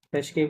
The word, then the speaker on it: frais: légumes faits frais, frais, ফ্রেশকে কি বলে? ফ্রে FRAIS, হ্যাঁ? উচ্চারণ হবে ফ্রে, এস ফ্রে সাইলেন্ট।